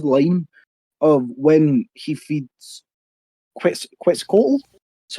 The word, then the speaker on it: Quetzalcoatl: can read his line of when he feeds Quetzalcoatl. That's how you pronounce it, yeah?